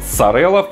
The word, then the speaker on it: Sorel: Но да, мы наконец-то дозрели до Сорелов, они вообще-то так правильно произносятся.